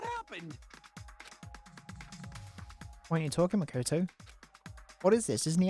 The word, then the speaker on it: Makoto: Rather, the fault Makato. lies with you guys. All right, I was waiting for you, Makoto. You Makoto. finally arrived. That's how you say it. Makoto.